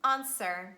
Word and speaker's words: answer: wrist rap and again some exceptions some random words when w is not pronounced and they are tu sword and answer w is silent that's it for today's